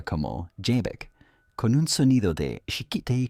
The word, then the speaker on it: Xebec: Ya que estamos hablando de nombres, recordemos que Roxec se pronuncia como Jek con un sonido de chiikitei como en japonés